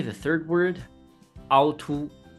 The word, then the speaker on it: 凹凸: Number 3, the third word, 凹凸. 凹凸. So here's the funny part, 凹凸. Both characters are pronounced in the first tone, 凹 and 凸.